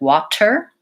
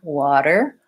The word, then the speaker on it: water: happen in this word for most people it's making the difference between using an aspirated T like water versus using a flap T like water water what I'd like to